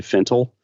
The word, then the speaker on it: Fintel: But I was trying to copy your pronunciation and saying Jon Fintel. You kind of that's right. Fintel. Right? There's Fintel, and then some people say Fintel.